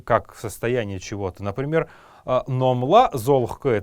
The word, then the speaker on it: золгх: Золхк, пишем золгх, но произносить будем мы его золхк.